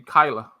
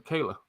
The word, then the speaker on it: Kyla: no but you know she pronounced it the long the long way and then it's in the short Kyla or Kayla it could be pronounced both ways it's just like with the Spanish vowels yeah yeah Spanish exactly she prefers to be Kyla than Kayla um my mom made